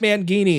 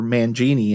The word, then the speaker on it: Mangini: uh quick um news intermission it's uh Mike manini is back in uh Dream Theater no Mike Mangini or Mangini as it's pronounced is out of Dream Theater Mike pornoy